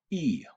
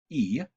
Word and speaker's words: y: of the letter but when you read it it's pronounced e it gets translated as